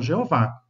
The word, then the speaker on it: Jeová: E na língua portuguesa nós temos a pronúncia muito legítima, vocalização Jeová, né? Ah, com J.